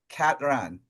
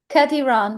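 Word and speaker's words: Kati Rán: I actually corrected my friend the other day because he said Katie Ran, and I'm like, Yeah, oh no, it's Kati Ran, that's and he was like, oh well, has look a at you.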